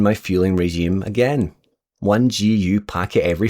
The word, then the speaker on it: GU: After the race, I told my friend what happened, and she said, "There's a reason GU or Goo rhymes with poo."